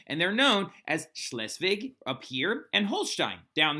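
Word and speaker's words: Schleswig: second slesvig war okay now slesvig is how you say these provinces right and it's actually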